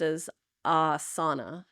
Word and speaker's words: asana: yeah posture posture yeah and that one's often mispronounced as a a yeah like what the Dutch people go